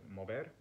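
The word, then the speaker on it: mover: means to so or mober which means to move notice that in spanish the v is pronounced rather like a b the v that we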